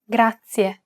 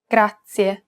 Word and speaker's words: grazie: It's pronounced grazie, This word uses the rolled R sound. grazie.